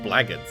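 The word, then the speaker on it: blackguard: think I feel like even though it's spelled blacku guards I think that's usually pronounced blackards isn't it Who hide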